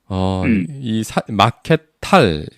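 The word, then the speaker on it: Markthal: 그리고 그 옆에 가면 마케터리라고 거대한 시장네 맞아요 거대한 터널 같이 생긴 그런 건물인데요 마켓 탈 걔네 발음으로 마켓탈이라는 걸 한번 찾아 그냥 그 숙소에서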